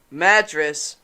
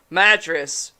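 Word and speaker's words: Madras: pirate drown the bastard mattress mattress madess oh mattress don't know it's madess that's m a d r a s ah mess that's how you say it madess no yeah madess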